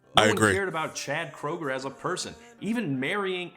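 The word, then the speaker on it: Kroeger: No one cared about Chad Kroger as a person. Even marrying Abil Lavine couldn't get people to care about. Did you know his name's not even Chad Kroger? It's pronounced Krueger.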